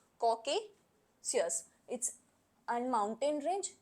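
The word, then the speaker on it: Caucasus: फिर है कॉकेकस, it's sorry for pronunciation, is कॉकेशियस, इट्स an mountain range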